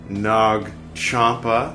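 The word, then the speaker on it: Nag Champa: So we're burning some Nog Champa and to drink Peru. So it's spelled like nag but pronounced more like eggnog, right?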